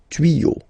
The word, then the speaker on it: tuyaux: Okay, same rule here, you won't add s at the end, but instead of s you will put x. Okay, des tuyaux. Same rule, you don't pronounce it.